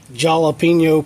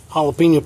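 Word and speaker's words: jalapeño: If you care, I'd like to show you, I guess, my jalapeno plant. You know, all the Mexicans, they're saying it wrong. Jalapeno, ain't no jalapeno. J starts with a ja.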